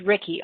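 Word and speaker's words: Ricci: My name is Ricky, R-I-C-C-I. So people mispronounce it. And my last name is. So you will hear people say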